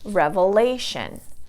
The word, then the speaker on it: revelation: Also with words ending with T-I-O-N or S-I-O-N, like here I have the word revelation, revelation. So revelation. So this syllable is going to be the one that gets the stress. Revelation, because it's the second from the last.